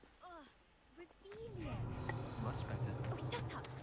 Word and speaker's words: Revelio: Ugh, Revelio.